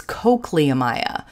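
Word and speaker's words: Cochliomyia: talk to you he says you you're miss pronouncing the name of this species oh really and he goes yeah it it's it's cochlea Maya like up but it there's there's there's a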